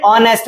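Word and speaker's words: honest: फिर एन ऑनेस्ट मैन। जैसे कि हमने आवर में समझा था वैसे ही ऑनेस्ट का एच साइलेंट रहता है।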